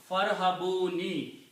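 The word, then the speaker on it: فارهبون: And when you combine fa with the ra, you do not pronounce this alif. It becomes hamzatul wasl. So now your word is farhabuni.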